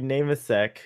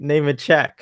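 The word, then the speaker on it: Nemecek: I follow Larry Namasek, who we've been calling Larry Namasek all this time.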